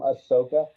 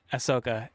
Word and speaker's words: Ahsoka: people liked Ahsoka very much so that's how pronounced the name Ahsoka Ahsoka and Andor also a very good Star Wars